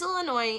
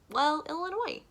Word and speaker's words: Illinois: Yes, my name is Illinois, and I need one airline ticket to, Illinois. No, the S is silent.